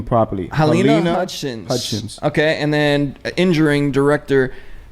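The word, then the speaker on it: Halyna Hutchins: Helena Hutchins.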